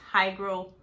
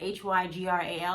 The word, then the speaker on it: hygral: I think it's hygro fatigue or something like that. Hygral. I think that's how you pronounce it.